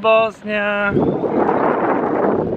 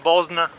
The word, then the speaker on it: Bosna: Estoy en Bosnia. Aquí le dicen Bosna, pero en italiano se dice Bosnia, pienso en español también.